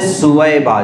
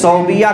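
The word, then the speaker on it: ثویبہ: ایک باندی تھی حضرت سویبہ, جن کو عام طور سے صوبیہ کہا جاتا ہے, صوبیہ لکھنے میں صوبیہ دکھتا ہے لیکن حقیقت میں اس کا تلفظ ہے سویبہ, تو حضرت صہیبہ تھی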